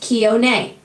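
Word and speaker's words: Kione: K I O N E is pronounced kon.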